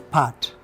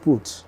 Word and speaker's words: Putt: this awesome name PT it is pronounced as part yeah not put mhm uh a man